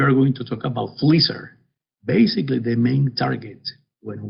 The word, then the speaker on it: FLISR: for us we are going to talk about fleecer basically the main target when we try to implement fleecer is this to improve reliability indices so with this brief introduction then we can go into what fleecer means uh again fleecer stands for fault location